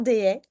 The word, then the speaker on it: Deshayes: C'est Desaé? des haies, Bon, c'est ça. tout Ben, simplement. C'est vrai tout- que ça s'écrit hyper compliqué alors que ça se prononce ouais, tout simplement, euh, des haies.